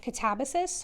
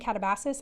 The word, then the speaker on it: Katabasis: to actually take the place of Catabus. I found out is how you say it or at least that's how most people are saying it. I was saying katabasis. I feel like catabasis sounds cooler but I also felt like